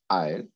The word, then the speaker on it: isle: Isle and aisle. Have you seen the same pronunciation of these two words?